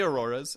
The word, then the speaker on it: auroras: They're both correct, or is there they not They are both really... correct. You can say auroras, and you can say aurorae.